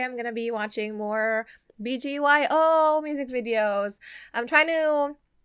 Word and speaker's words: BGYO: saying it right right it's like bgyo because like when my brain looks at it it's like Baguio but no it's bgyo right right I'm sorry